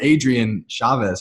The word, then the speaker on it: Adrian Chavez: Adrienne Chavez how are you ma'am I'm doing great thanks for having me did I pronounce that right yeah he did awesome that's